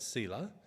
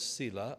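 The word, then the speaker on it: Selah: lovely little word and different people pronounce it different I pronounce it Sila um no one knows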